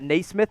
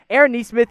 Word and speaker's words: Nesmith: I know you see that last name, and you're like, wait, isn't that Naismith? No, it's actually pronounced Nesmith, but Aaron Nesmith is, I truly believe, the best pure shooter in this class.